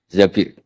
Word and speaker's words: Zabir: di di hadis ini bukan bacanya bukan Zubair tapi Zabir Abdurrahman Bin Zabir tapi